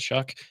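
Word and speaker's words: Shough: Uh Tyler Shuck Shaw, is it Shuck? Is I've been mispronouncing Tyler Shuck for a while. I finally got it down. I just heard it was Shuck uh two hours ago.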